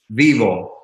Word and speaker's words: Vyvo: The brand it's pronounced vyvo.